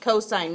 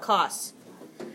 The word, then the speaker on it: cosine: Cosine is abbreviated like that. It's still pronounced cosine, not cos.